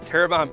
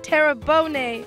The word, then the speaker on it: Terrebonne: wachita parish a wachita parish a wachita parish terrebonne parish terrebonne terrabone parish tarabani terrebonne terrebonne parish just southwest of new orleans houma